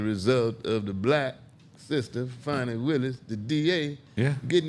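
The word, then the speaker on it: Fani: Fanny and Fonnie, and her name is Fonnie Willis. Funny. It's spelled different than Fanny. Well, say it again so America can hear It's it. Fonnie Willis. Funny. Fonnie. Fonnie, Willis. F-A-N-I.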